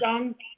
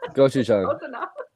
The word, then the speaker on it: gochujang: Gochujang. Gochujang.